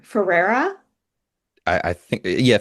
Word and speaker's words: Ferreira: when he talked about, and correct my pronunciation, Ferreira. I think yeah, Ferrero I think is right. I think That's so. what I Ferreira. said in the movie. Okay, perfect. We'll go with that. Ferreira, one of the things that he writes down